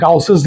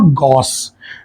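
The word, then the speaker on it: Gauss: यहाँ पे गाउसेस लॉ दिया हुआ है, इसको रॉन्ग प्रोनाउंस करते हैं इंडिया में, गॉस लॉ बोलते हैं, बट एक्चुअल में इट्स नॉट गॉस, इट्स गाउसेस लॉ, ठीक है। इंडियन प्रोनाउंसिएशन के हिसाब से ठीक है, लेकिन एक्चुअल नाम उस बंदे का गाउस है।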